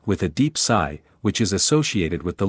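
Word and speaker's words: 呬: shu with a deep sigh, which is associated with the liver. He, pronounced like her with a yawn, which is associated with the heart. Si, pronounced like sir with a slow exhale, which is associated with the lungs.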